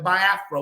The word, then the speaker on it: Biafra: after they left we had a war the Biafra War that's how it's pronounced she was like so we couldn't take